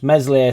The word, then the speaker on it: Meslier: the live several times meslier silent s just needs to it's